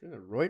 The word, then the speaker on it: Reuters: going to die tomorrow rter how is it pronounced reuter Thompson Reuters yeah my router my internet's not